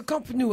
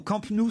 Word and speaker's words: Camp Nou: Au camp, vous le prononcez, c'est genre le camp à l'américaine.